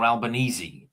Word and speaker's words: Albanese: Albanese, is it um how do you pronounce is it Albanese or Albanesei? This is what Alban Albanesei. It's Italian.